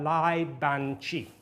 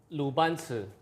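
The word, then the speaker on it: 鲁班尺: It's the Lai Ban Chi. The pronunciation is wrong, and I know. 鲁班尺 Yes, is a 鲁班尺, yeah.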